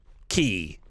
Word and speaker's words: K: Key. Key. Sorry. The name is pronounced key.